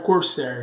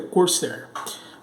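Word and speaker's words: Corsair: a cor certa tá cursar Corcel né a pronúncia correta é cor certa bom coloquei aqui uma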